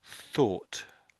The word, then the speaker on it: thought: If you if with the first one you make that first one sound with an F, you can't tell the difference really. So you can you can make mistakes if you're not careful. So if I say both of these words, hopefully you'll hear there's a difference. So the first one, the top one listed there is thought and the bottom one is fought.